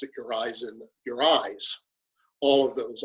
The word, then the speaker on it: Urizen: Well, some people say Urizen, and then when I went to the Blake Society, they were saying to me, Urizen, it's meant to be your reason, because it is reason, isn't it?